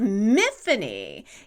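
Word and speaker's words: Myfanwy: main character's name is miffany it's a welsh name spelled n m-y-f-a-n-d y where the w is silent so it's like tiffany with an m and it's not so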